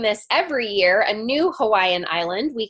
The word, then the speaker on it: Hawaii: in the islands of Hawaii did I say it right I hope I said it right the w is a V correct okay so what we